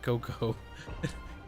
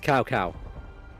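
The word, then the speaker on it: Cao Cao: or cow cow because I was pronouncing IT Coco pronounce IT Coco it's cow cow cow cow sounds funny though no it is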